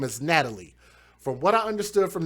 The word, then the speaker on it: Natalia: So I think it's Natalie Wallace, but they spell it as Natalia.